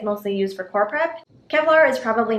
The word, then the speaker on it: Qevlar: to talk about is kevlar which is spelled with a q q e v l a r and kevlar is actually